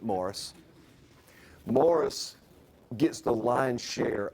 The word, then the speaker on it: Maurice: Mohr's specifically Morris more even though it's spelled Maurice he did not like the French he pronounced it Morris Morris gets the lion's